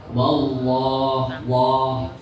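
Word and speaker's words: والله: Berarti tadi bunyi loh itu kalau tanda sebelumnya di atas. Contoh fathah. Contoh ada tanda fathah terus lafaz Allah. Berarti fathah kan sebelumnya Allah ya Bu. Terus bacaannya contoh wa itu kan fathah. Nah, jadi bacanya wallah, jangan wallah.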